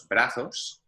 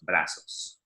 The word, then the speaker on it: brazos: Now, if you're in Spain, the Z is pronounced much like a TH, los brazos. Here in Latin America, Z and S pretty much sound identical, los brazos.